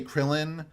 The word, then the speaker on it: Krillin: I just say Krillin because even I am not nerdy enough to say Kuririn consistently.